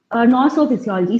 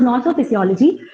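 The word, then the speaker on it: gnosophysiology: And plant nosophysiology, so G is silent there. So nosophysiology, it is nothing but the ability of the plant.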